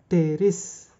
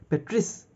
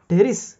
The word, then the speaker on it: Pteris: Then from P we have pteris. P is silent, right? So some people will say petris, pteris, something like that.